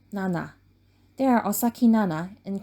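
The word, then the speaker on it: なな: their name room 707 in Japanese 7 is pronounced as Nana while staying in room 707 both Nana experienced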